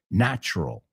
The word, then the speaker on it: natural: O sea, no ponemos mucho acento en esa U en el medio. Es natural. ¿Ves cómo casi nos comemos esa sílaba?